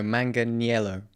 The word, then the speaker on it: Manganiello: No, Manganiello. No, I think it's Manganiello. Nope. There's an I in there.